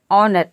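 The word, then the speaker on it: honour: मतलब होता है आदर तो इन सभी वर्ड में आप देख रहे हैं कि शुरू में एज आ रहा है और एज के बाद रूल के अकॉर्डिंग ओ आ रहा है अब देखिए यहां पे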